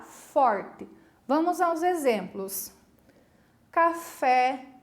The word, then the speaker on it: café: Café, ó, de cara a gente percebe que o café, a última sílaba é tônica, né? Porque se fala é em vez de e, né?